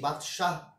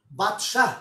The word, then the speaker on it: বাদশাহ: আবার কি করে জানো বাদশাহ এত সুন্দর উচ্চারণ করেও না বাদশা করে তো এইজন্য ওইখানে ব্যাপারটা